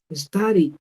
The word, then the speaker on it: studied: Entonces lo voy a pronunciar con una D. Studied, studied, ¿ok?